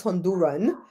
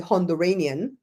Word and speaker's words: Honduranian: Apparently, he was Honduran. And if you're from Belize, you don't say Honduran, you say Honduranian.